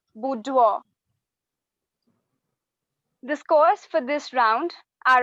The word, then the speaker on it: boudoir: time starts now buddy that's not the correct pronunciation it's boudoir i repeat it's boudoir scores for this round are as follows team